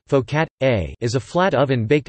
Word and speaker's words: focaccia: focaccia Italian pronunciation folk at a is a flat oven